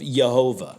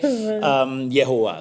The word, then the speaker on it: Jehovah: But it is a line and a field that could only be crafted by the hands of Jehovah. All right, okay? Yehovah, sorry.